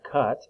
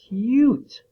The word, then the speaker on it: cute: not cut that e when there's a the u and then a consonant and then e or another you can say another letter and e that turns it into a long u sound kind of a pattern